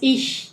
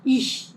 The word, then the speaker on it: ich: es no es así, no es ich, es ich, ich.